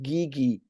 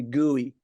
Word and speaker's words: Guigui: all versions of it my last name is pronounced Gigi I thought so yeah and um I've heard it I've heard my basketball coach in high school used to call me gooey what what he used